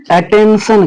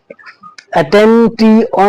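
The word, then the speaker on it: attention: तो हम इस वर्ड को अटेंशन कहेंगे। इस वर्ड को हम अटेंशन कहेंगे। इसको अटेंटी ऑन नहीं पढ़ना है। अटेंशन पढ़ना है।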